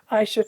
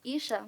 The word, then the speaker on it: Aisha: Our next speaker is Aisha, then Ria Rathai, and Joanna Ural. Welcome. Hello, good evening, everyone. My name is actually pronounced Isha, and I'm a senior